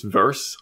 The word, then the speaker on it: Verse: It's Verse, V-R-S-E is how you spell it.